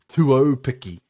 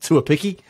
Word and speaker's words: Tuopiki: He's got a Māori surname, so his name is actually Tuopiki. Tuopiki, yeah. So Tuopiki. There we go. So they kind of just skip by the AU part, the commentators, but it's not Tuapiki, it's Tuopiki.